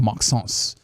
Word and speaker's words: Maxence: Light, a very, very, very light Omax, Olivier Maxence Prosper, or Maxence, as Mark Followell has been saying. Maxence. I gotta get like Mark Followell, where he has like the full French pronunciation in there.